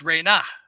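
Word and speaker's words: Rena: So a word written with the energy glyph and the almond-shaped glyph represents the energy of the non-material feminine, and it's properly pronounced Re-Na.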